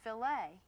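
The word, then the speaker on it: filet: If you're speaking about meat cookery, the French word f i l e t it's pronounced fililet and that's the proper way to talk about a fililet of beef.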